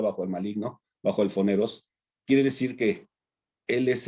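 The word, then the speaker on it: πονηρός: griego original, el foneros, se escribe como PH, y se pronuncia foneros, ¿verdad? Y lo puedes escribir como poneros, pero ese foneros se traduce como el adversario o alguien que pone dificultades.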